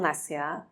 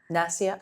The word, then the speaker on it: Nasya: It's called Nasya. Nasya? Spell it.